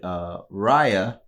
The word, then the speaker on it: Raya: But it was a similar situation to when we reviewed Raya. Okay. That's the correct pronunciation.